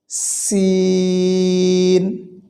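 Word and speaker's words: سين: এরপরে আসেন সিন, সিন, এটি উচ্চারণে তেমন কোনো সমস্যা আমাদের হয় না, স্বাভাবিকভাবে আমরা পারি।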